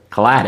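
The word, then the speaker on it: Caladan: Caladon. Caladon. It's like Aladdin.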